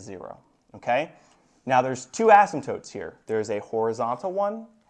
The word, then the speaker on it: asymptote: anybody have a guess what that word is Asim is actually pronounced ASM toote it's a fun one huh ASM toote so